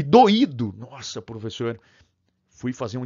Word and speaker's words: doído: Se eu não acentuar esse i aqui, eu tenho que pronunciar igual a esse cara aqui, ó, doido. Não, não, não, não, não. Do, i, do, tá?